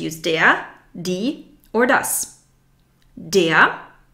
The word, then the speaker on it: der: Der, the R is not pronounced.